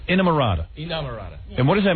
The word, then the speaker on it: Inamorata: It's coming out in June, Inamorata. Inamorata. You guys were just telling me they went on Regis and Kathy Lee, and Regis said it right, Inamorata.